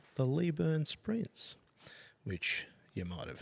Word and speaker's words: Leyburn: It's absolutely not Leburn. It is definitely Lee Burn.